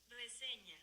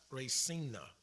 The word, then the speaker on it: reseña: reseña, that tilde or that little squiggly mark over the N lets me know that that N is going to be pronounced with like a flare of a Y almost. So it's not Resina, what I said at first.